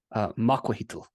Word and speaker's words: macuahuitl: And how do you pronounce that again? Macuahuital.